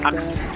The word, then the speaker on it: AKSH: Actually প্রোনাউন্সিয়েশনটা আকাশ নয়, AKSH, আক্স, right, আক্স residency.